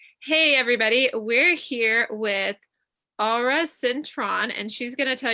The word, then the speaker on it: Aura Cintron: It's Aura Cintron. Yeah. Much freer than the way I say it.